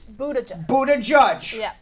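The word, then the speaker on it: Buttigieg: Pete I'm gonna pronounce his name right Pete Budda Budda judge it's not how it's spelled but yes people to judge yeah he's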